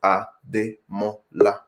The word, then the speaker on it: Ademola: The first name is 4 syllables. So Ademola.